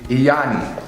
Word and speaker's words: Lyani: I see Lyani is the correct pronunciation of it.